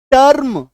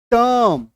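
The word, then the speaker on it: term: उच्चारित नहीं करना है मतलब जर्म नहीं बोलेंगे जम टर्म टम आ रही है बात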